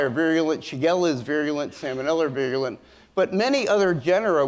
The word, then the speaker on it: salmonella: wasn't salmon and that's why i call it salmonella so so anyway using classic biochemical and serologic